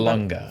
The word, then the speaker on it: Vallelonga: Green Book's Nick, I can't pronounce his last name. I'm not going to be a horrible person. Vallelonga.